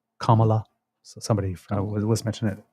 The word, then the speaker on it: Kamala: me about the pronunciation it's Kama like comma Kamala so somebody was mention